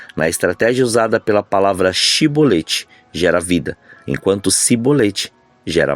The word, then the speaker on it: chibolete: de trigo ou cereal porém sibolete era um dialeto efraimita e eles não conseguiam iam articular e pronunciar o som de ch nessa palavra e a pronunciavam de forma diferente Ou seja sibolete aqui no Brasil temos